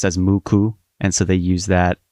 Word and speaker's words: MUCC: six and the kanji for nine can be pronounced as muku.